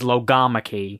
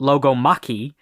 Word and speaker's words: logomachy: like accepted pronunciation is lamak because of like biology like those kind of Greek words where the emphasis is on the second syllable right but there's also